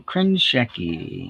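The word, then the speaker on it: Krenchicki: Wayne Krenschecki. In case you're wondering how that name is pronounced, there you go.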